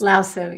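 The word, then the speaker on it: Lao Tzu: And that's written by Laoo. Is that how it's pronounced? Lasu.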